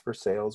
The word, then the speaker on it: Versailles: the small town of versailles kentucky pronounced spelled like versailles france but pronounced for sales we kentucky iced it